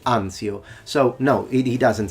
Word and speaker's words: Anzio: american we say salerno he says ancio we say anzio so no it he